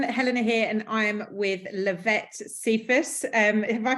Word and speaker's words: Lavette Cephus: Hi everyone, Helena here, and I'm with Lavette Cephus. Have I pronounced that correctly, Lavette?